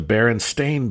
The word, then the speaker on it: Berenstain: It's not spelled Berenstein. It's spelled Berenstein, like stain on your shirt. The Berenstain Bears.